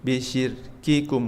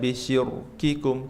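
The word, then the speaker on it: بِشِرْكِكُمْ: Hanya ada satu di Al-Qur'an Allah mengatakan, "Wa yaumalqiamati yakfuruna bisirkikum bisyir ini rnya tebal atau tipis, Bapak Ibu? Tipis karena sebelumnya kasrah. Jadi dibacanya bisyir bisyirkikum bukan bukan bisyirikum tapi bisyirkikum.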